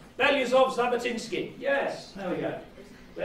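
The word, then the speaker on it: Belousov-Zhabotinsky: Beliazov-Zabotinsky.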